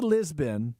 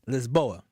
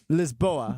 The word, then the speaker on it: Lisboa: Now that you're back, is you went to Lisbon. Lisboa. Lisboa. Yeah. That's like literally how you say it.